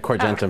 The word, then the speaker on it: Corgentum: say the name of your firm that's right corgentin all right thanks to both of you for